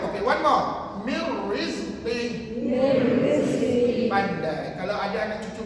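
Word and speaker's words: من رزق: Iaitu nun mati jumpa ra, hukumnya idgham bila gunnah. Dan tuan-tuan nak bunyikan ke tidak nun mati tadi? Jangan bunyi dia. Okey, one more. Mir rizqi.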